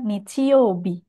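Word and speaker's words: 日曜日: Pokoknya kalau hari Minggu berarti kanji hari yang depan itu dibacanya Nichi, yang belakang dibacanya Bi, seperti itu.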